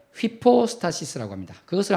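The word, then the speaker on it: ὑπόστασις: 위기 여기인데요 그 위 격을 헬라어로 말할 때 휘 포스타 시스 라고 합니다 그것을 한 번 따라 있으니까 시작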